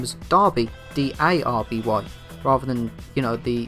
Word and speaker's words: Derby: even by characters in the game, they actually pronounce his name as Darby, D-A-R-B-Y, rather than, the spelling of the pronunciation of Derby.